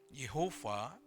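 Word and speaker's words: Yahweh: Allah itu adalah yahwe yahwe adalah sang nama nah kata yahwe atau seringki juga disebut diucapkan dengan kata Yehova artinya adalah the one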